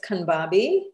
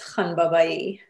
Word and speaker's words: Khanbabai: So the American way is Khanbabai, and then the Persian way is Khanbabai.